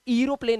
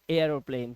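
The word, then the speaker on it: aeroplane: अब इसे एरोप्लेन नहीं पढ़ते हैं, कभी भी आपने देखा होगा हवाई जहाज को, अब इसे पढ़ते हैं एयरोप्लेन। क्या पढ़ते हैं, एयरोप्लेन। हम इसे पढ़ेंगे एयरप्लेन, ठीक है, एयरप्लेन। इस तरह से इसका उच्चारण होता है।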